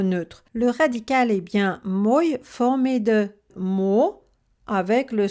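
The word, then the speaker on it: мой: Le radical est bien moj formé de mo avec le son y derrière. Moj a une seule syllabe, donc le O est forcément accentué.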